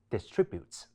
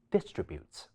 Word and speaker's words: distribute: 兩個匙，英式或者尾聲嘅標準發音，都會將重音放喺第二音節，即係 contribute 同埋 distribute , 而息發